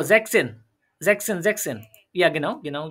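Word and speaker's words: sechzehn: ও জ্যাকসেন, জ্যাকসেন, জ্যাকসেন।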